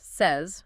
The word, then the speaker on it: says: In standard English, it's pronounced says, rhyming with fez, raise.